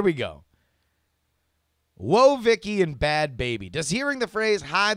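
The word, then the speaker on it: Bhad Bhabie: If you're trying to Google this because you're listening on audio only, please point of fact, Bad Baby is spelled BHADBHABIE.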